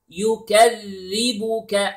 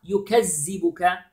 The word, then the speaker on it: يُكَذِّبُكَ: فَمَا then يُكَذِّبُكَ. Now notice here the dhal. Dhal has a shadda. Okay, so we have to stress a little bit when we pronounce the dhal, which is يُكَذِّ.